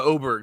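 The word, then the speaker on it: Åberg: I started but the announc it's called the oberg so that's why I was like okay it's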